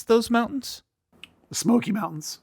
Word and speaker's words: Smoky: you pronounce those mountains Smokey Mountains oh it sound like you said smooky SMY is the Blue